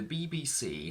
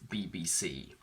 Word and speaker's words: BBC: Let's analyse these words, and we will start from the very famous BBC. Can you hear a difference between BBC and BBC News? You will have noticed that I shifted the stress.